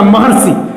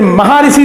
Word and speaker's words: महर्षि: यहां आ और री मिलकर अर बन रहा है और ये शब्द बनेगा महर्षि। महर्षि, फिर महाऋषि नहीं होगा, महर्षि होगा, अर महर्षि। उच्चारण के समय भी जो है अर आएगा। और यहां पर वर्षा, इसमें